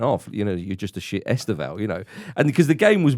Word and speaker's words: Estêvão: And there were plenty of chants with regard to Estêvão, should we say, the stress on that syllable, or Stephen, as I like to call him, because that's basically what it is.